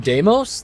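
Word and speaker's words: Deimos: Was it almost Was it also Damos? Uh let's put my water all the way over there. That's fine. That's the correct pronunciation. Deamos.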